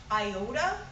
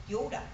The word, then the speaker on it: iota: in seminary was that the Greek letter equivalent to our I that we pronounce iota in Greek is pronounced Yoda and the seven structure